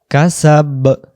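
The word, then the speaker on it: كسب: উচ্চারণ করতে হয় ওয়ামা কাসাব জবর আছে এখানে বা অক্ষরে কাসাবা কিন্তু আমরা উচ্চারণ করব কাসাব কেন কাসাব করব দম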